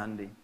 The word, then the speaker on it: Hyundai: Jepang bikin Honda ya Korea bikin hundai Hyundai bacanya hundai kemudian sana masuk Piala